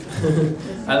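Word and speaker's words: 愛: What is this? Oh, this kanji is the word for love. It's pronounced I and koku, I think.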